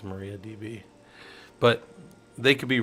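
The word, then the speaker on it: MariaDB: that says I um I've always called it Maria DB and I've heard people call it Mariah Mariah I don't I don't like that I'm going to keep calling it Maria because that's how it's spelled yeah but I'm pretty sure it's spelled hold on but that's how it's spelled so if they wanted it to be Mariah they should have spelled it Mariah they spelled it Maria right I mean it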